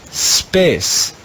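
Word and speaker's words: spes: the red row is space even though it has four letters it's only one syllable space space means hope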